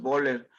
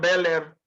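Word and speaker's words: Böhler: berer de berer y le di risis a la o dos puntitos arriba la o es berer algunos la pronuncian beller otros dicen que en alemán es berer pues ha vayan ustedes a ver pero berer está bien o ber berer Ajá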